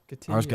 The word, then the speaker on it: Hargitay: Hargitay. I was getting her name wrong.